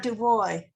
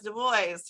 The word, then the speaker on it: Du Bois: knew janae's huh about du boy wbb boys yes the boys right you do pronounce the us so we know his